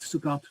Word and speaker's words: Sukkot: Okay, I think that's Sukkot. Succoth. I think you're phonetically correct, Sukkot.